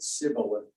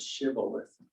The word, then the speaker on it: shibboleth: they couldn't pronounce it they couldn't put the H in there so they said sibilant instead of shibboleth and every one of